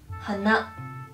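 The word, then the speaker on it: 鼻: Pag nose naman po ay hana. May pagka, pababa po yung pag-pronounce niya.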